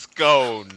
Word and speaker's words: scone: It is literally cone with an S in front of it, Paul.